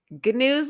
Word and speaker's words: Ganoes: Gnoos like canoes. We've been calling him Ganoes or Gnoos.